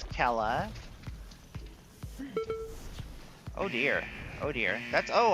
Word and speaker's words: Kela: 5, 4, It's Kela 2, 1. I started spelling it with a K because I was tired of people not pronouncing it in the Gaelic way.